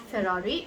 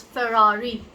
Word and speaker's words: Ferrari: It's not Ferrari, it's Ferrari. Ferrari. R. There's a lot of R in the pronunciation.